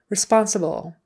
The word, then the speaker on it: responsible: away with that responsible the accent is on the second syllable responsible who is going to